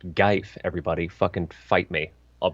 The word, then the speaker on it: GIF: It's a GIF. And Scarlet, yeah, it's not pronounced GIF. It's not pronounced GIF. It's pronounced Geif, everybody.